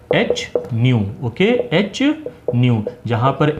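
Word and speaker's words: ν: Okay, इसका pronunciation कैसे है, जैसे न्यू हम बोलते हैं उस तरीके से है।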